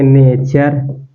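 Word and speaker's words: nature: यहां पर लिखा जैसे एन ए टी यू आरई इसको आप क्या पढ़ेंगे ने नेर देखिए यहां प च और यहां पर र तो इसको पढ़ेंगे नेचर क्या है नेचर नेचर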